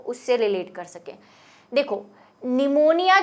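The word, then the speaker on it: pneumonia: जो स्पेलिंग मैंने आपको बताई थी इस वाले निमोनिया की, वो PNU से स्टार्ट हो रही थी, P से स्टार्ट होती है, P साइलेंट रहता है, और यही निमोनिया रियल वर्ड है क्योंकि लैटिन से बना हुआ है।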